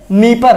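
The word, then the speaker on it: Dnieper: उसके बाद ये नीपर है, नीपर की स्पेलिंग भी डी से शुरू हो रही है, नीपर।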